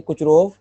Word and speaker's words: Kucherov: Process को हम लोग बोलते हैं कुचरोव, ई साइलेंट है, रिएक्शन कहते हैं।